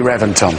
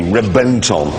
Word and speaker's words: Reventon: a v Reventon no I know it's spelled with a V but it's pronounced with a B why I don't know they've told us it's B Renton anyway it has a